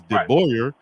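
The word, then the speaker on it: DeBoer: Good recruiter, and he's not bad looking, and the name is not hard to pronounce. Yeah, it's De Boyer, but his first name is Kalen.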